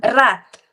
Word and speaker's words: wrath: The W is see for that's the problem with English sometimes the words that you pronounce right most of the words will be silent the letters oh right sometimes